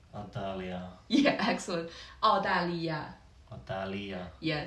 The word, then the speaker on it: 澳大利亚: Australia is very easy because we actually just use the pronunciation as a Chinese style. Yeah, so Australia, we say. Adalia.